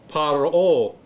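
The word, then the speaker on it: פַּרְעֹה: But you got the holum right here up at the top, which is an O. Then you got your hey, so that's a O. So the word is paro, paro.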